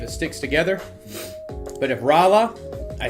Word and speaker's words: Rolla: pronounced, I know everyone keeps telling me, my bad. Rala.